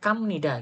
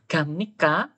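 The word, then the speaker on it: 갑니까: hati-hati ya kalian ini yang sering membaca salah adalah huruf giok huruf g contohnya Ini gongbu hamnita mesti rata-rata BAC kongbu gitu mesti bunyinya gamnika mesti banyak banget yang bacanya kamnida gitu bacanya G ya gamnika gamnida gongbu hamnika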